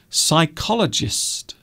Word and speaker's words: psychologist: So these all have strange silent letters. And because they have silent letters, people will often spell these words incorrectly. So we have psychiatrist, psychiatrist, psychologist, psychiatric, physiotherapist.